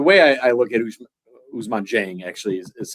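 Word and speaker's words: Ousmane Dieng: Uh but the way I I look at Usuzman Jeng actually is how it's pronounced is is lottery ticket and a little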